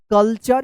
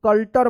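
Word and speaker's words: culture: कल्चर इसको कल्टर मत पढ़िएगा।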